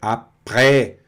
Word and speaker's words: après: E aqui, o après-midi, aqui já está aberto, olha, après.